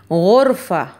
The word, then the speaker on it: غرفة: Swaruch, ha sound, okay, from your upper part of your throat you have to say, you have to pronounce ha sound. Khubz, khubz. Ghurfa, ghurfa.